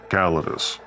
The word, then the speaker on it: Callidus: Greetings, I am Callidus, and yes, I pronounce it Callidus. You may pronounce it differently. Don't beat yourself up over it. It's a dead language.